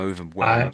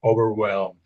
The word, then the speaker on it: overwhelmed: So the H is silent, you could say, really, but it's the V, the W, the L, and maybe the M.